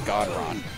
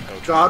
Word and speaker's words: Gotron: It says it's pronounced Godron, not Gotron.